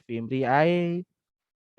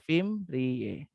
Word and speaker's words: fimbriae: atau nama lainnya fimbriae jangan bacanya fintya e&p Bacanya adalah fimbriae Nadia semacam rambut-rambut eh